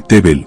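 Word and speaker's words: תבל: bíblico no es fantasía si pongo una hebrea son dos puntitos se lee tbel y significa tierra o mundo si pongo otra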